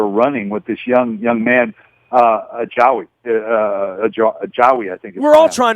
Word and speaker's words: Ajayi: with this young man, Ajawi, I think. We're all trying to figure out the pronunciation. Yeah, we're all trying. It sounds like Hawaii. They told me so. Ajayi, Hawaii. Ajayi, Hawaii.